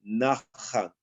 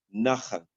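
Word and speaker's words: נחם: Aquí usa la palabra hebrea, aquí se escribe Nasham, pero realmente la pronunciación es una pronunciación cultural que es Nahan, Nahan, y que significa un sentimiento de arrepentimiento.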